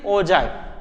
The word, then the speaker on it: ogive: Both are the same, but pronunciation is ogive.